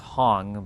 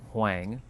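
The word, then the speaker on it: Hoang: It should be pronounced Hong, but he pronounces it Hang.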